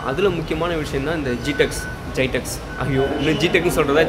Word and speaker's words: GITEX: ஜைடெக்ஸ், ஜிடெக்ஸ். இது சில பேர் ஜைடெக்ஸுங்கிறாங்க, சில பேர் ஜிடெக்ஸுங்கிறாங்க. நான் ஜிடெக்ஸ் தான் சொல்லுவேன். உங்களுக்கு எது ப்ரொனவுன்ஸ் ஈஸியாக இருக்கோ அதை வச்சுக்கோங்க.